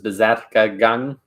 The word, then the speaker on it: Berserkergang: And in German, going berserk, the term going berserk in the Viking Age was Berserkergang, or that's how we pronounce it in German.